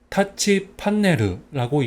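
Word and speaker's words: タッチパネル: 그래서 발음 같은 경우는 타치 판네르라고 합니다.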